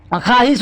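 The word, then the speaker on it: خواہش: उसी तरह बच्चों यहाँ पर वाव जो है ना, वाव साइलेंट रहता है। ख्वाहिश होती है बच्चों, ख्वाहिश नहीं ख्वाहिश।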